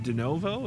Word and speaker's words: De Novo: Captain John, is it De Novo? Is that how you say it? Yes, it is.